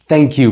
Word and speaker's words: thank you: So thank you so much ማለት እችላለሁ። If you really want to pronounce it like the native speakers, bring out a tip of your tongue here. ምላሳችሁን ትንሽ ወጣ አድርጓትና thank you በሚል ተጠቀሙ። thank you ሚል ድምፅ አለ አይደል?